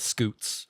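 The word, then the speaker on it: scute: They would claim that he his scales or his scoots. Is that how you pronounce that?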